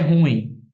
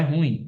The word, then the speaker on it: ruim: Ele é ruim, né? Na verdade, não é ruim, é ruim.